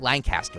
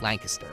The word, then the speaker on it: Lancaster: Mary, since you don't know, yesterday I read this spot, and they wrote out phonetically how to pronounce Lancaster. Right. It's not Lancaster, it's Lancaster.